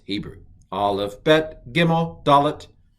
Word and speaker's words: Dalet: When it has the dagesh, it's definitely pronounced duh.